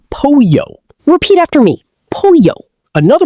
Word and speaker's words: pollo: Many learners pronounce pollo incorrectly. The double L in Spanish often sounds like Y. So pollo sounds like pollo.